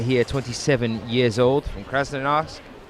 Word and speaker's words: Krasnoyarsk: Alexander Kalina here, 27 years old, from Krasnoyarsk. I'm going to pronounce that properly now. Krasnoyarsk. There we are, got there in the end.